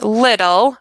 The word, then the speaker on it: little: from our last one we use that sound D instead of T we're gonna do the same thing here we don't change the spelling we change the sound so to sound more